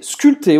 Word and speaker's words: sculptées: Esse P aqui é mudo.